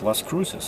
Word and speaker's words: Las Cruces: New Mexico, and that's how the girl at the counter pronounced it. I asked her, I said, so how do you say it, Las Cruces or Las Cruces? And she looked Spanish, you know, and she said Las Cruces.